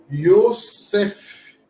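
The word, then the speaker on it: יוסף: O Samer, que tem o som de S, com o tsere, né, que é o sinal que tem o som de E, sinal massorético do som de e o Fê sofite. Lembra como nós vimos esta letra, que no final ela somente fecha a palavra com o som de F, não tem nenhuma vocalização. Então, como nós lemos essa palavra?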